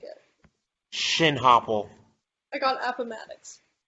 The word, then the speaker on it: Appomattox: shin hopple i got appomattox should be though it should be that is not how you pronounce that appomattox i'm going with appomattox you you know it's